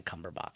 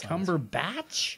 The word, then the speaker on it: Cumberbatch: and me which one do you think is pronouncing it correctly I think this time it's me no it's never been cumberbach it's Cumberbatch yes oh I've lost all respect for this